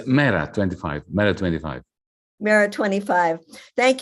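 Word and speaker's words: MeRA25: How do you say the name of the party, Janis? It's Mera 25.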